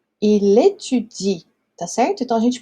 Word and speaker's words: étudie: com isso daqui, porque, embora tenha o E no final ali, a gente não pronuncia esse E.